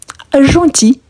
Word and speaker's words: gentil: Le L ici, on ne prononce pas, ok?